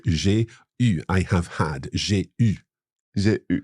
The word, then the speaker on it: eu: J'ai eu. J'ai eu. So EU is pronounced E, except for the past participle of avoir, which is U.